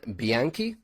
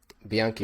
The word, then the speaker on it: Bianchi: His name is John Bianchi. Am I pronouncing that right? Bianchi, Yes, right?